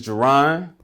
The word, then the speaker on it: Jeron: My name is Jeron. It's pronounced like Geronimo, just in case anybody cares.